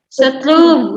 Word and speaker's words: se trouve: Kamelia, bacanya apa? Setrub ya.